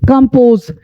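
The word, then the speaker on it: compose: अब देखिए 2 कॉन्सोनेंट के बीच में ओ आई है, इसकी उच्चारण आ होगी, और ओ के बाद कॉन्सोनेंट ई आई है, इस ओ की उच्चारण ओ होगी, इसलिए कंपोज कहते हैं। यहाँ आ, यहाँ ओ, कंपोज।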